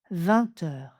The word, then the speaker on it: vingt: On fait donc une liaison en t également 20h. On se voit à 20h. On se voit à 20h. 20h. Quand le mot qui suit commence par une consonne, on prononce juste 20.